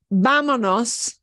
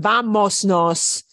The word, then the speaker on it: vámonos: So just like vámonos, instead of vamosnos, yeah?